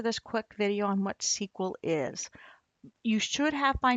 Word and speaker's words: SQL: what sequel is is it's a structured query language pronounce sequel and it's used to